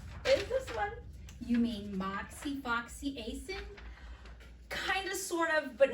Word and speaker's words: moxifloxacin: You mean moxifloxacin? Kind of, sort of, but not really. It's moxifloxacin, and it is a fluoroquinolone.